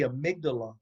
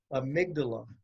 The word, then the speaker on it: amygdala: there yet oh okay okay the way you pronounce it is the amygdala amygdala okay tell me about the amygdala well I